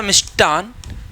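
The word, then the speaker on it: मिष्टान्न: एक हमारे पास आता मिष्टान, तो उसमें टा मिलेगा भाई, ठा नहीं मिलेगा।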